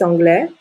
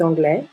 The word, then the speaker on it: anglais: consonne donc il est anglais le s est une lettre muette il est anglais angis elle est anglaise